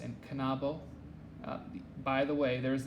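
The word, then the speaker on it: knabo: longa is pronounced long k and n are pronounced and kanabo by the way there is an app on the android marketplace that i it's called drops and it keeps pronouncing kanabo as nabo and that just because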